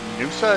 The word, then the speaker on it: Noosa: Is it Noosa? Is that how you say it? That's right.